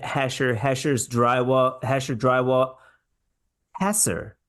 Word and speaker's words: Hesser: group that's why I always want to say hher I think there was like a there was a rock group called hher I like hher better but the correct pronunciation of Chad's name is hasser hasser drywall and out of Newton Illinois pearl of